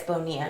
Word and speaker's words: Bonilla: Even though that's not how you pronounce his last name. FY, it's Bonilla. Yeah. But it looks like vanilla.